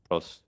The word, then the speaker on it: Prost: How do you pronounce that? Is it ProST? Prost.